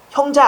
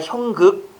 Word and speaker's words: 형극: 3번은 형자는요. 형자 아닙니다. 형극이라고 읽으셔야 됩니다. 형극.